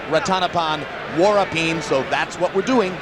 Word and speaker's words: Ratanapol Sor Vorapin: Country and incidentally yes it looks like ranal Vine but we were told by those who speak taii and amazingly enough we don't that it should be pronounced rattanapan warin so that's what we're